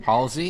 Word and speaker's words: Halsey: Halsey?